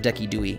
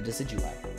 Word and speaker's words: Decidueye: i i saw the decky dewey it's hollow it's the second regular hollow we've gotten the decidueye i know how to say it real i just like decky dewey's kind of funny and ray says that